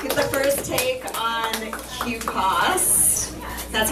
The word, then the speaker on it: QPAS: Thanks so much for being here tonight to get the first take on QPAS. That's how you pronounce it.